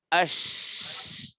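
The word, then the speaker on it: ش: জিম, আজে, ইয়া, আই, শিন, আশ। আপনারা আপনার মুখের সামনে আঙ্গুল রেখে দেখেন যে যখন শিন পড়বেন তখন মুখ দিয়ে বাতাস বের হবে।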